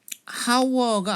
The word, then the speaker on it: hour: A train comes once an hour 하면은 이때 어는 왜 일단 언이 오느냐, 요 hour의 발음상의 그 발음기호상 모음으로 시작을 해요. hour가 아니죠.